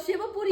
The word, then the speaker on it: शिवपुरी: क्यों पानी बरस गए सीपरी सीपरी मत करो करेक्ट प्रोनाउंसिएशन करो शिवपुरी अच्छा शिव की पूरी